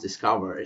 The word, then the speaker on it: DSCVR: cover which is spelled DCR VR um but pronounced discover so let's start with the story behind it